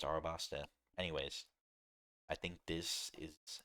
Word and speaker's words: Arabasta: This I I don't know why I pronounce her so many times as alabaster. Um it's Arabasta.